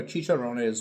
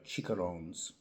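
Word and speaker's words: chicharrones: So yeah, I think uh Chicharon was was the funniest one. Uh because I I believe it's uh Chicarones. I think that's that's the correct pronunciation.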